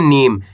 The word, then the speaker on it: नीम: है माली प में आ की मात्रा प न में बड़ी ई की मात्रा नी तो मिलके बन जाएगा पानी न में बड़ी ई की मात्रा नी म तो मिलके बन जाएगा नीम क्या पढ़ेंगे नीम ऐसे नहीं पढ़ना नीम अगर आप नीम पढ़